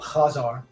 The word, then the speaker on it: Khazar: Since most Americans can't pronounce the guttural Khazar, I'll pronounce that name the way it's spelled in English, Khazar.